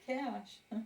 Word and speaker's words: Coz: C-O-Z, but And they pronounce it, Cash. the Z as an S-H.